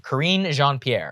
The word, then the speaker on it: Karine Jean-Pierre: Okay, correct my pronunciation. Karine Jean-Pierre. You got it.